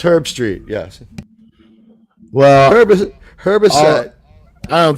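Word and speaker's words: Herbstreit: Herbisset. Yeah, it's Herb Street.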